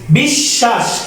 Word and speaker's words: বিশ্বাস: এরকমভাবে কি দ্বিধা সাইলেন্ট, বিশ্ব দ্বিত্ব উচ্চারিত হয়েছে, বিশ্বাস দ্বিত্ব উচ্চারিত হয়েছে, সমন্বিত দ্বিত্ব উচ্চারিত হয়েছে, মেম্বার শব্দের ক্ষেত্রে বজায় গেল, গুরুত্ব দ্বিত্ব উচ্চারিত হয়েছে।